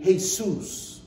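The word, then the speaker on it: Jesús: person of Hispanic descent main hey soos which is spelled just like Jesus Jesus is a name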